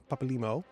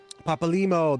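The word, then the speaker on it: Papalymo: Papal Limo. Papal Limo.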